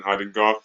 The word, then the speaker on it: Hagendorf: so I as we've got the wonderful Alison haddenkoff and I hope I pronounced that correctly I usually have a bit